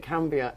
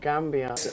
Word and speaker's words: Gambia: And so we pronounce it Cambia and not Gambia.